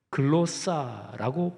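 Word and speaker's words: γλῶσσα: 헬라어 단어는 두 가지입니다 첫 번째는 글로 싸라고 발음되는 다는데 있드시 혀를 말해요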